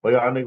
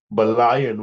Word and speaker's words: bionic: It was hard for us to pronounce cuz we were my brother would call bionic woman balayan woman. So, what were you what were you watching?